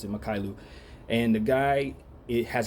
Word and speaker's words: Mykhailiuk: Can't believe I'm saying his name, pronouncing his name correctly, but that is exactly how I pronounce it, Mykhailiuk.